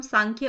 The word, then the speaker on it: सांख्य: हुआ है ठीक है इसको हम प्रोनाउंस सांख्य ही करेंगे कई जगह आपको एस